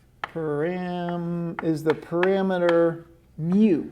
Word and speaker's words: mu: is the parameter per mm is the parameter mu it's a greek letter it's pronounced m u and the sample mean that's